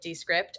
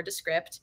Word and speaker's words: Descript: this knowledge of how to make podcasts with Descript or Descript. A lot of people like to know how to pronounce it.